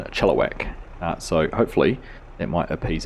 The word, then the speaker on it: Chilliwack: uh shortening my eye I was saying it more like Chilliwack rather than Chilliwack so hopefully it might